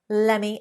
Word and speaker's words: let me: or hear that word let meaning to allow allow me to explain lemme explain so pretty confusing but